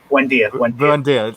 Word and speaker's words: Buendia: The Buendia, is it? Yeah. Buendia. There you go. I told you about the pronunciation.